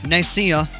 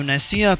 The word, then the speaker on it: Nicaea: It's Nicaea, pronounced incorrectly by my stupid brain every time.